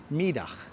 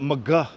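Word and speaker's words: Middagh: house costs maybe 16 million who knows 57 midah streets and I'm pronouncing it correctly the Dutch pronounce iation most of us Brooklyn has to call it Mah streets but I like to call it by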